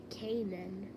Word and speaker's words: Kaenon: Just so you know, my name is pronounced Kaenon.